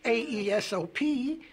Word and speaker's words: Aesop: Spell it. Well, A-E-S-O-P.